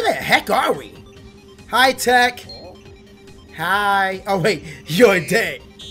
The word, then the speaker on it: TEC: I am Tech. Although some people call him TEC, but Tech is just simple. What do you guys call him? Tech or TEC? It's Tech, right? It's a simple one syllable word name.